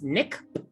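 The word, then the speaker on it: Nikp-Mup: your question um babs uh the the the pronunciation is nick the hidden city of nick it is spelled in the in the english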